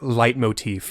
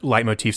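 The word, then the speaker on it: leitmotif: I want to teach for this episode is light Motif that is spelled l t m o t f and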